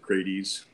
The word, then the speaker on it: Crates: pronounce his name Brad I usually say in the ancient Greek words usually say via the vowels kind of as long vowel sounds okay I wasn't sure if it was that way or the other way yeah most people pronounce it Grady's okay great ease so